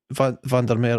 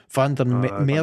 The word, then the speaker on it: Van der Merwe: coming in high, and Van der Meer, I struggle to say his name, man. Van der Meer, do you pronounce the W? Van der Merwe. Does he pronounce it like a V?